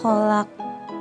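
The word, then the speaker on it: خلق: Min syarri ma khalaq. Bukan ho tapi kho.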